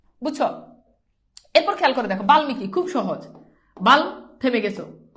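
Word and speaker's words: বাল্মীকি: ম হয়ে গেল বুঝছো এরপর খেয়াল করে দেখো বালমিকি খুব সহজ বাল থেমে গেছো মি তারপর কি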